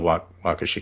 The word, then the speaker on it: Waukesha: happening in Wisconsin now you know about crucial Waukesha County right you know we all know that group and the suburban Wow counties yes Washington while Keesha and rocky okay pronunciation welcome but those are